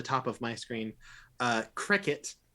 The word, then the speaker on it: Croquet: of my screen uh cricket that is how his name is pronounced he has confirmed it uh could you please